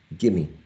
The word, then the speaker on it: gimme: There is an elision of v here. Give me, gimme. V is not pronounced here in the reduced form, in the reduced form, sorry.